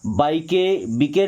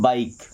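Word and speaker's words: bike: जैसे बी आई के ई इसे बाई के बी के नहीं पढ़ना है। क्या पढ़ते हैं? बाइक।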